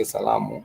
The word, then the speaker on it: salamu: If you're sharing our greetings, we do say salamu in Swahili, and that is our greetings. And therefore, we do see the 3 syllables here. So the 3 syllables here are sa, la, mu.